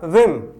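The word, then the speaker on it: whim: तो इसी तरह से यहां पर इसका उच्चारण जो है वो होगा विम, न कि विम।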